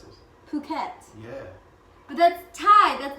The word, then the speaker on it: Phuket: And how do you pronounce it? Phuket.